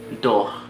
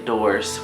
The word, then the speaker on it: dors: In French, you don't really say the last letter sometimes, or at least most of the times. So we're just gonna say dors. We won't say doors with the S, so you kind of eliminate that.